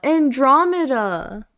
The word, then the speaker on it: Andromeda: Emphasis on two. Yeah, two. Oh, Andromeda.